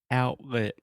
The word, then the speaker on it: outlet: Your tongue, everything is in position to make the T sound, and then you just don't quite do it. Your throat stops you, and we just say outlet. Yeah? Yeah, outlet. Yeah. So if a Brazilian asks me, how do you say that word? If I am really articulating, I will say, oh, outlet. But no one actually says that. We say outlet.